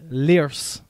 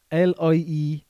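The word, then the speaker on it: Lierse: The other team from that country is Liers. L-I-E-R-S-E.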